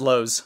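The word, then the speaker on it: Loz: I think it's pronounced Lowe's.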